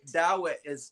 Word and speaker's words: Dawit: Dawit that's how you pronounce that in our language.